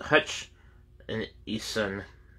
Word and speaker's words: Hutchinson: it next we have Ralph uh Hutchinson uh pronounced Hutch and Ethan um it's uh spelled two different ways or the way it's spelled is h-u-t-c-h-i-n-s-o-n but that's um parentheses here it's h-u-t-c-h-e-s-o-n so